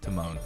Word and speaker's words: Timon: And I don't even know what I was saying, but I was saying it wrong. It's Timon, okay?